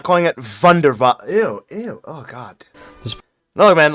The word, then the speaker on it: Wunderwaffe: Why do people pronounce it Wunderwaffe? It honestly irritates me hearing that. Like, Wunderwaffe. Bro, that's literally a W. Like, bro, if you're English, bro, just say Wunderwaffe. Like a normal person, dude.